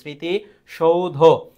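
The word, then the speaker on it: স্মৃতিসৌধ: স্মৃতি সৌধ জাস্ট দেখে নাও এর উচ্চারণটা মফলা শুরুতে থাকলে তার উচ্চারণ হবে না সেক্ষেত্রে উচ্চারিত হবে এখানে স্মৃতি সৌধ সি হবে আর মফলা থাকলে চন্দ্রবিন্দু হয় মফলা থাকলে কি হবে চন্দ্রবিন্দু স্মৃতি সৌধ পরের প্রশ্নটি 18 বছর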